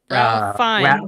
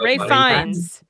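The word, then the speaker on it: Ralph Fiennes: dude from Bone Temple, Ray Fines. Rayines Ray Fines.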